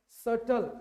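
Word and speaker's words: subtle: सटल, इसमें B silent रहता है।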